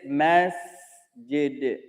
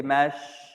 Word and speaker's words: masjid: The word is masjid. Al-mas. Mas. But some of us mistakenly pronounce this seen as a sheen. We say mash, mash, mash. It's mass, mass. It's a seen.